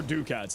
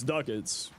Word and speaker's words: Ducats: Is it duckets or dukats? It's duckets. That's even what uh what's his face says. If you're ever wondering the pronunciation of something, just go up to an NPC that says it. Borrow says duckets and thus it is duckets.